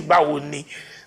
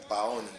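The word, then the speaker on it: Báwo ni: But you'll be surprised when someone you expect to say Bawoni nicely will be saying Bawoni like Baoni.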